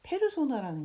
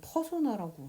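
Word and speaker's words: persona: 예를 들면 페르소나라는 게 있는데요. 요즘에 퍼소나라고 이렇게 발음을 하죠.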